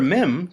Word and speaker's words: mem: The letter mem derives its name and original shape from the word for water, like the Hebrew mayim. Mem sounds like the letter M in mountain.